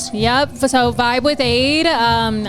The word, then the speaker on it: Ade: So Vibe with Aid um I say aid like lemonade that's how it's spelled a D.